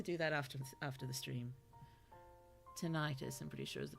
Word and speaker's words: tinnitus: Tinnitus, I'm pretty sure is the pronunciation. Thank you. I will try to remember that. Tinnitus. Sounds sort of more scientific, at least, than tetanus. Tinnitus.